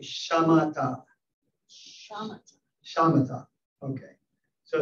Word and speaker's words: Shamatha: And am I pronouncing Shamatha? Shamatha.